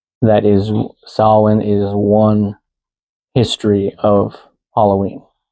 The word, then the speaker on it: Samhain: Not Samhain, it's Samhain.